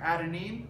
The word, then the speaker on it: adenine: So A stands for adenine, that's how you say it.